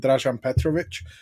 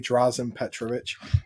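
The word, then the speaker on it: Dražen Petrović: are vlade divas and rajan petrovic um or as americans say drazen petrovic which you know gets on my nerves so bad like just go on google guys it's really easy um those two played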